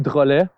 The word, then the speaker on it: Drolet: Yeah, so my full name is Drolet, is how you would say in French, but Drolets is the English version.